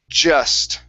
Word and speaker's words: just: the word just now you were pronouncing the J with the Spanish J saying yes okay this is just try that just okay one more time